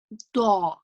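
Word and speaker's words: ظاء: and you're going to create a heavier sound with a rounder mouth. The. Da. So you need to make the same sound as dal. Remember this sound. The. Da. You need to make the like this, but this time you're going to say it in a heavier way, like this, which doesn't exist in English.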